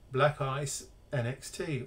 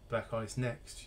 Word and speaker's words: BlackIce Nxt: pcbs this week so black ice nxt or black eyes next you can pronounce it either way you like if i haven't offended